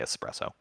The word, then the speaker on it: espresso: So another misconception about coffee is that espresso, or some people say espresso, Italians say espresso, so I don't ever like correct anybody. It's spelled with an S in English, so just say espresso.